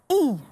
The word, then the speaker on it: y: That Y there is pronounced E in Spanish.